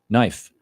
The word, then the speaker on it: knife: Knife. K is silent.